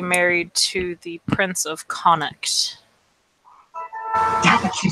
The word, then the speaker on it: Connacht: It was a daughter who was going to be married to the Prince of Connacht.